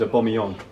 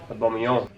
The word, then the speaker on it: Aubameyang: You don't do the yang or yang or whatever at the end, it's yong.